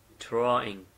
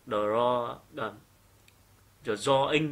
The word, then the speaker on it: drawing: nữa này drawing drawing nhớ nhá cái âm r ấy được chưa âm R R nặng thế nên chúng chúng ta tuyệt đối không được đọc là draw do in như thế này được chưa ạ mà phải là âm r nặng nó phải cong lưỡi lên một chút được chưa ạ Thế